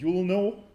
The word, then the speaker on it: ulno: And in recent times, people started to pronounce it ulno, because the Americans cannot say a name which starts with U. And so I embrace that, so you will know, yeah? So we will pronounce ulno as you will know, and I hope after